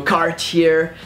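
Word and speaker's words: Cartier: ah no cap ta just go with car and then tier and just go carts here and then just go cart here and don't pronounce that are at the end cards here and then pronounce the R as a French are she catchy then Jana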